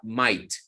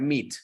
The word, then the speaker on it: might: Y la hipótesis se lanza con la palabra might. Con el patrocinio de la palabra might, nunca me la vayan a pronunciar meet.